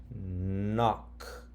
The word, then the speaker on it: knock: Ah. K. Knock. Okay. I guess that's Little Red Riding Hood knocks. Little Red Riding Hood knocks on the door.